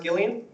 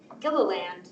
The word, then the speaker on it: Gilliland: Is the last name pronounced Gillian? Gilliland. Gilliland. Yeah, close.